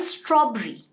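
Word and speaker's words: strawberry: हम यही कहते हैं ना, स्ट्रॉबेरी, बट प्लीज इसका प्रोनाउंसिएशन स्ट्रॉबेरी नहीं है, इट is called स्ट्रॉबेरी। स्ट्रॉबेरी आप इस तरह से याद रखिए, STRAW, स्ट्रॉ, BRI, स्ट्रॉबेरी। हमें इस तरह से बोलना है।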